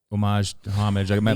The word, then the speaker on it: homage: Homage. My dad's British, so is whatever. Is there an H in there? It's a silent H and a silent E actually. It'd be homage. Homage.